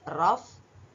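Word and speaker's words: rough: ಪದಗಳು ಸಿಓ ಯುಜಿಎಚ್ ಕಫ್ ಆರ್ ಓ ಯು ಜಿಎಚ್ ರಫ್ ಟಿ ಓ ಯುಜಿಎಚ್ ಟಫ್ ಇಎನ್ಓ ಯುಜಿಎಚ್ ಇನಫ್ ಪಿಎಲ್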